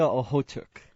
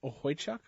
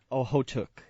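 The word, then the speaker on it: Okhotyuk: Nikita Ohotuk.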